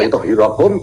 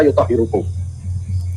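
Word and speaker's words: يُطَهِّرَكُمْ: Wa yutahhirakum tadhira. Berarti yang belepotan siapa? Lalu jadi dalam pembacaannya ada yang keliru ya, Pak ya, dia membaca yutahhirakum dibaca yutahhirukum.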